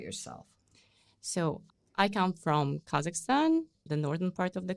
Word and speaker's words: Kazakhstan: We It's Kazakhstan. We say Kazakistan. There's a vow one more vow. But in English it's actually Kazakhstan, right?